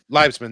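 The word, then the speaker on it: Liebesman: I can't pronounce. I don't know. Livesman. Livesman.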